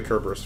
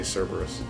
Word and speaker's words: Cerberus: for stiffness what if there's stiffness in the kerberus fight yeah maybe you're right wish you could use it from this menu I'm going to keep saying kerberus to piss everyone off who wants me to say Cerberus while kerberus is how it would I like